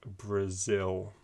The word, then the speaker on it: Brazil: actually we're wanting to stress the second syllable and so it will sound like brazil can you say that